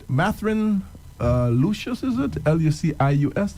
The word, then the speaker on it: Lucius: Lucius. It's pronounced as Lucius, Yeah, right?